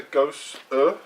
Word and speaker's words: Gose: So, now I would pronounce this a Gose. I thought it had a hard E. There's no emphasis on that word.